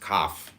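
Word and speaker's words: Kaph: K A P H pronounced cough transcribed as K.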